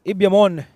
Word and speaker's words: Ibyamon: So Ibyamon is what I've been told is the pronunciation.